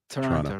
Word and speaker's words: Toronto: Actually, yes, Toronto is how we say it. We don't pronounce the second T. Toronto, right.